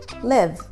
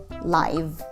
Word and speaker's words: live: or an adjective because when this word function as a verb then it has a short i sound live live when it is an adjective it is pronounced with a long eye live live the show is